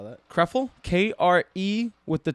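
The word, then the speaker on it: Krëfel: How do you spell that? Krefel, K-R-E with the 2 dots over it.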